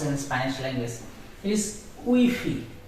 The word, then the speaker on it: Wi-Fi: It is Wi-Fi, not Wi-Fi. In English it is Wi-Fi, but in Spanish it is Wi-Fi. Because every Spanish letter has only on pronunciation.